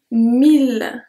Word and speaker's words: mille: The second one I want to share with you that I'm not pronounced exactly like that is mille, mille.